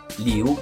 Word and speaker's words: 刘: 한국 말이랑 비슷합니다. 리우, 이성이거든요.